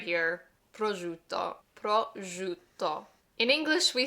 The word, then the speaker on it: prosciutto: Number 1, this word right here, prosciutto, prosciutto. In English, we say prosciutto, I think. I learned the Italian way, prosciutto. That S-C-I-U, shoe, like shoe a fly.